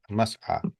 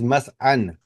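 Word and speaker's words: مسعى: Mas'a. Must. Okay, must. So the way to write it is mas'an. Mas'an, but you won't say it like that. You'll pronounce it as mas'a.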